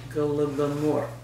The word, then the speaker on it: Holodomor: How is that pronounced? Holodomor.